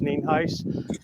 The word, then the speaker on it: Nienhuis: Again, my name is Hernando County Sheriff NIENHUIS, spelled NIENHUIS, and it's pronounced NIENHUIS.